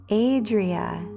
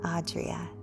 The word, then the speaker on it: Adria: Oh, Adria, not Audrea.